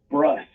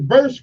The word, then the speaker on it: brusque: So what is Bursk, right? Bursk? Brusque. Okay, well, it looks like it's spelled Bursk.